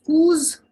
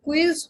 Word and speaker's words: Quiz: Then comes coos, not quiz, but coos. It is the English quiz. Okay, in English it is quiz. In German it's coos.